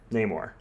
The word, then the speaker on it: Namor: Namor.